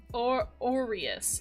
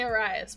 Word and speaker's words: Orius: I've been saying his name wrong. Wait, hold on. Let me remember how to say it's orius. It's Orus. Orus. My gut wants to say Oras, but it's Orius.